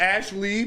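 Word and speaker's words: Ashleigh: the Ash Lee, but it's spelled Leigh.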